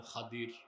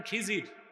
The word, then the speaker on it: খাদির: আলেম আমার এক বান্দা তার নাম খাদির খাদির বঝেন নাই যাকে আপনারা বলেন খিজির ওনার নামটা কি আমরা বলি এটা ভুল উচ্চারণ শুদ্ধ উচ্চারণ কি মুসা নবী আল্লাহর কাছে